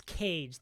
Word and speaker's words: Kage: That's Cage. That's not Kage. Squid and Kage haven't played this year. That's someone from Cali who goes by the same tag, but it's pronounced Cage.